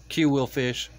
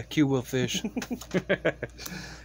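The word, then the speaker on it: Qwilfish: a cue will fish it's quill as yeah q wheel fish quill from uh guardian of the galaxy yeah q will fish heracross another cast form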